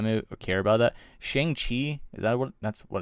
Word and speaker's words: Shang-Chi: I believe they're saying now it's pronounced Shang-Chi.